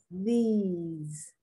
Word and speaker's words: these: people cannot pronounce the difference between this and these because they can't they they don't distinguish or their tongue doesn't help them to distinguish between the short eye this and the long e these those is the opposite no it's the plural